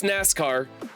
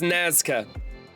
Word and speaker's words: Nazca: And I want to call this NASCAR, but I think it's Nazca.